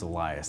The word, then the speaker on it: Elias: I'm trying to exploit for views actually it's pronounced Elias don't worry though it's a common mispronunciation I